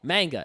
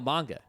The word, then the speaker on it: manga: Like someone will say manga and I'll say no, manga. And they'll say, "Oh, right, manga."